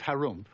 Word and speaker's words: Harum: again in the land of Harum which is pronounced like when you clear your throat there lived an ogre